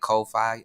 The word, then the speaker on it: Ko-fi: This one is called Coffee, spelled with a K, K-O, like Ko-Fi or K-O-Fi, I guess.